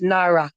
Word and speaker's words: Naira: I apologize in the pronunciation. No, with the N, it's Naira.